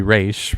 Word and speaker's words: Ra's: Ra's al Ghul, or Ra's al Ghul, how they do it, they pronounce it in the movie, which apparently is incorrect. It should be Raish.